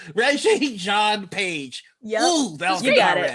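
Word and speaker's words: Regé-Jean Page: I'm gonna say it with my whole chest confidently, like I'm not about to mispronounce this gentleman's name. Regé Jean Page.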